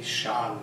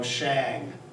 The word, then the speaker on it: Shang: to learn Chinese but notice the pronunciation there are no hard A's no hard vowel sounds in Chinese so there are no Shang there's no Shang there's no Tang there's no Wang it's a it's a